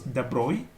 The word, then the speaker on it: de Broglie: So the de Broglie, that or better it is de Broglie wavelength is a French name, actually pronounced as de Broglie.